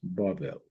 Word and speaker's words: Babel: Babel. Babel. It is pronounced Babel. Confusion. Babel, that is Babylon.